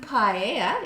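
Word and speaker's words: paella: mention of a seafood paa that's how you pronounce it the pi sorry p a e l l a and I would like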